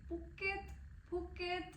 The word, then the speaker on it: Phuket: So basically you pronounce it Puket.